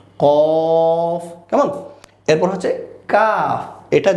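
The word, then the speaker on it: ق: যে নুক্তা ওয়ালা কফ এটাও আমাদের ঠোঁটকে একটু গোল করে আমরা বলব কফ আবার বলছি কফ এর পরবর্তী বর্ণ হচ্ছে একটু মুখ ছেড়ে দিয়ে বলবো কাফ দুইটাই আমরা অনেকেই গুলিয়ে ফেলি যে সেইম সেইম মনে হয় একটা হচ্ছে কফ আমাদের ঠোঁটকে গোল করে যেটাতে নুক্তা রয়েছে যে দেখতে গোল আমাদের ঠোঁটটাও হবে গোল কেমন কফ কেমন এরপর হচ্ছে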